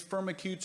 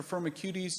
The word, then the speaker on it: Firmicutes: are very familiar with these Firmicutes or firma cuties depending on how you want to pronounce it and back to Royd